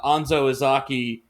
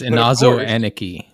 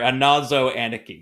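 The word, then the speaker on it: Inazo Aneki: You can bring the mouse trap and then uh Anzoaki has to be brought there to say the command word that will kill Dave. That's Inazo Anaki. Sorry, Anazo Anaki.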